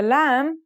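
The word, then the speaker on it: ل: The lam sounds like the English L.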